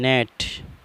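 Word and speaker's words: gnat: का फायदा यह है अगर जी के बाद pain हो तो फिर जी हमेशा साइलेंट रहता है में चार मिसाइलें आपके सामने हैं मैं नेट माना मच्छर डिजाइन माना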